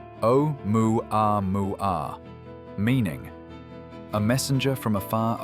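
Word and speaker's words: ʻOumuamua: Pronunciation o moo a mu meaning a messenger from afar arriving first or scout.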